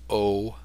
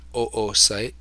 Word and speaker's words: oocyte: And occurs when the oocyte, it's pronounced oocyte, not oocyte, oocyte, or you could call it the ovum or the egg.